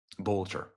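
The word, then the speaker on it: Boelter: Look at that, Vance Boatler. In case you're wondering if that's forged or fraudulent, here's the official documents of the Secretary of State of Minnesota. Here it is. Vance Bolcher. Bolcher.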